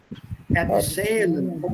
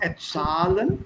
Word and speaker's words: erzählen: Erzählen. Umlaut erzählen. Not erzahlen, but erzählen.